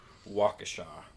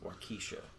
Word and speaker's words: Waukesha: and it is in Waukesha not pronounced or Keisha yeah however you say